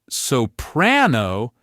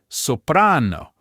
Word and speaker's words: soprano: The vast, vast majority of Italian words put the stress on the second to last syllable. This is also called the penultimate syllable. This single simple rule is what creates that classic Italian flow. Just listen for it. It's not gelato. it gelato, not soprano, it's soprano.